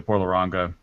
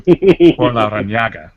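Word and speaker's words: Por Larrañaga: forward to, like the Porlaranga, Picadores #1. That one sounds pretty good. Pedro will kill you for mispronouncing that name. Porlaranaga. Porlaranaga. Yes, sorry.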